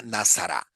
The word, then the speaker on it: Nazara: notar el la pronunciación vean que no dice Nazaret sino nazar verdad hay muchas hay muchos muchas ediciones de la Biblia que lo cambian verdad Pero San Lucas en en los textos más antiguos llama nazara posiblemente ya sabemos que Lucas